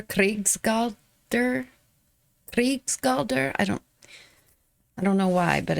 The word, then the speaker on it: Krigsgaldr: This song is, it looks like in English, Krigsgaldr, but for some reason I want to put like a roll on the R, Krigsgaldr.